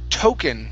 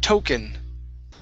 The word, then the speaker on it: token: next is the word token instead of talking it's an o sound token token okay all right very good